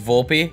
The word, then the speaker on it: Volpe: want to make it to world series it's volpe oh okay it's volpe i've been saying it